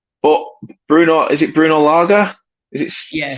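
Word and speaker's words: Lage: bruno is it bruno laga is it yes said like bruno large it's uh i think it's pronounced large um but yeah i mean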